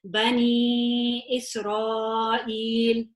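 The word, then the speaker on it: بني إسرائيل: Okay, so this would be a normal 2, but because of that squiggle, we are now stretching it 4 or 5, and I would pronounce it as Bani Israel.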